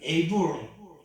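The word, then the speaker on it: הבל: 바로 2절에 여러분 두 번째 아이 아벨을 낳았을 때 그 아벨의 이름은 허벨, 이걸 우리 영어식으로는 에이블, 아벨이라고 하지만 이 히브리식 발음으로서는 허벨이라고 하는데요.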